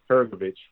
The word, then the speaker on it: Hrgović: Philip, how you pronounce his last name? Hrgović.